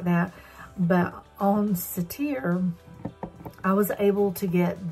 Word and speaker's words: Cettire: You pronounce it Cetire.